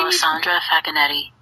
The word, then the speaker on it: Alessandra Facchinetti: Everybody Alessandra Facchinetti.